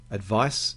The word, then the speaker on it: advice: delivery advice and advise you can actually hear the difference in the pronunciation advice is a noun and advise is a verb so when we look